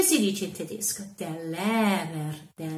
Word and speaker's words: Lehrer: Der Lehrer, der Lehrer. Le R finale muore un pochino, quindi dobbiamo lasciarlo un po' andare.